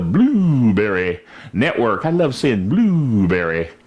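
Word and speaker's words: Blubrry: network i love seeing blueberry it's spelled kind of interestingly b-l-u-b-r-r-y blueberry but we're there as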